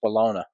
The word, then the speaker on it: bologna: Bologna? Bologna. It's bologna. Yeah. Bologna. Bologna. That's how you say it.